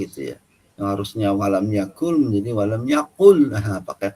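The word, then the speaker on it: يكن: Misalnya dalam surat Al-Ikhlas, walam yakul lahu pakai kaf, walam yakul lahu kufuwan ahad pakai kaf. Sedang ada juga orang membacanya bukan pakai kaf tapi pakai qaf.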